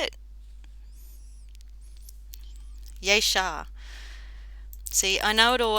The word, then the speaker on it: Jasher: Yeshar. See, I know it all. I know the first part, but the pronunciation.